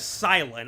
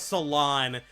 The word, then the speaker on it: Cilan: I called him I thought his name was Salon like Cilantro for the longest time. And then I and then I watched like a couple episodes of the anime and I realized, oh, oh, it's silent. It's not actually derived from the pronunciation pronunciation of cilantro.